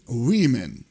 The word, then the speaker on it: women: однаково але пишеться по-різному і woman women тут навпаки пишеться однаково вимовляється по-різному пояснити складно тут тільки запам'ятати